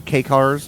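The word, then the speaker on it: kei: I've only I mean, ever people heard it will pronounced. typically call them K cars, just the letter K dash car, but that comes from their name, K car, which is K-E-I.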